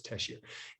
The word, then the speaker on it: Tessier: Okay, I said it wrong the first time, so it's Tessier.